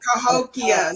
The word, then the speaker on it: Cahokia: Just to correct you, it's spelled Cahokia. For anybody who's going to say something, somebody going to say something from South, it's Cahokia, Cahokia.